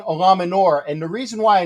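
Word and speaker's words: Eluemunor: hope we play jermaine ella mueller i think i said it right i don't know i'm gonna i'm gonna get you there his name is jermaine olaminor and the reason why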